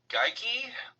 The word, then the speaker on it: Gaikowski: It's a Scottish name, and the Scots do say geeky.